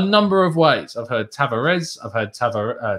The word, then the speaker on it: Tavares: of ways i've heard tavares i've had heard uh tavaresh but actually uh you don't even pronounce the r from the sounds of things it's just tavage uh is how you